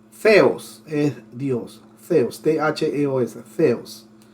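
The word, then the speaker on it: θεός: Cuando digo así como la Z, pero es TH. Theos es Dios.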